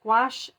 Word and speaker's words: gouache: the jewel is gouache painting gouache is spelled g-o-u-a-c-h-e and it is essentially